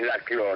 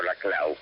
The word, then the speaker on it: Laclau: Sí, mi nombre es Laclau, no Laclau, pero... Laclau, Sí. se escribe Laclau y se pronuncia Laclau.